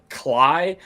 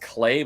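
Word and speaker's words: Klei: And my favorite game from I want to say Cly, but apparently it's pronounced Clay, but it's K L EI.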